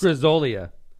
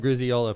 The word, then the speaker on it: Grizzolia: But I it's Grizzolia. I was calling him Griziola for my whole life.